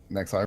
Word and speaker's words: Nexi: Nexi rhymes with Rek'Sai.